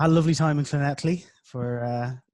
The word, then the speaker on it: Llanelli: a lovely time in Llanelli for 2 weeks. Hopefully, Paul doesn't pick me up on my pronunciation like he slightly did last week. No, that was perfect. Llanelli, that's bang on.